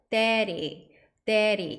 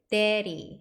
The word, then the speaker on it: daddy: 데디가 아니라 데디 약간 뒤에 있는 디디 발음이 앞에 A 모음의 강세가 오기 때문에 뒤에 D 두 개가 가볍게 그냥 뭉뚱그려가지고 발음하시면 돼요. daddy 약간 리을 발음 비슷하게 daddy 하시면 됩니다.